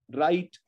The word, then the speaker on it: write: WR cluster the W is silent, write, W-R-I-T-E, write, W-R-I-S-T, wrist, wrote, rest, wrong, wrestle, wrinkle, right?